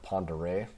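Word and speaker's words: Pend Oreille: A little bit north of that, you have the Sandpoint area with Lake Pendere, which is spelled super funny, so you'll want to look that up by probably just searching on a map.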